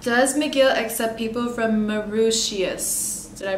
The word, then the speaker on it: Mauritius: Does McGill accept people from Mauritius? Did I pronounce that right?